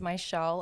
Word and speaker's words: Mizziel: make sense phonetically so i have two z's in my name but it's pronounced like sh so whenever p i